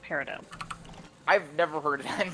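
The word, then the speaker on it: peridot: How are you pronouncing parid dot? It's parido. I was going to say it is technically pronounced parido.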